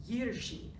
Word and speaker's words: Jiří: and we found that this name is actually pronounced Jiří, and that was so different from anything that we had thought, but it was so